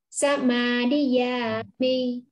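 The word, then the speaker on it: samādiyāmi: Mình xuống giọng thành ra đọc là Samadhiyami, mi. Nó hạ.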